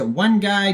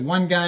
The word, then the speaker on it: 1GUY: of the token is one guy ticker symbol is one guy and that is spelled uh with a one GUI um also goes by